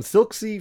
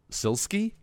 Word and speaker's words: SILSKY: I I am prepared question number one from silk see from the patreon what is the most expensive car you have ever driven I believe his name is pronounced SIL ski sir I know you you want to make